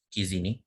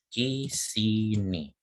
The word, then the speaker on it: cuisine: Nah, ini cara membacanya adalah karena kui bisa bacanya bisa bacanya seperti kui, bisa juga ki, biar cepat. Bisa ki, bisa kui, tapi saya bacanya seperti ki. Ki sini, bisa ki sini, bisa biar lebih Prancis lagi ki sini bisa.